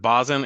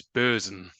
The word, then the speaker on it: Bösen: two here where there's an umlaut over the O. So that's a long O sound as well. So instead of Basen, it's Bösen. So hopefully that's helpful.